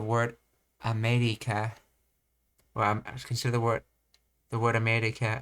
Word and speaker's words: America: Consider the word America. Americans pronounce me with a slightly higher pitch and slightly longer duration. America.